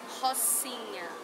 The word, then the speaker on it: Rocinha: Okay, how do you pronounce Hoshina? Rocinha. Rocinha. Hoshina.